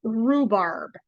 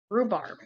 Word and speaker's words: rhubarb: another cucumber this is rhubarb and rhubarb it's r h u b r b rhubarb only the RH the H is silent and it just sounds like r-u-e rhubarb and here's more corn